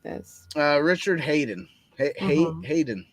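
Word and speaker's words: Haydn: Hayden, right?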